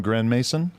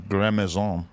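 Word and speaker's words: Grandmaison: My name got two pronunciations. Grand Mason and Gramazon. No, Gramazon is the other. I got Gramazon and I got Grand Mason. Gramazon is the business. Gramazon. Gramazon is just trashy.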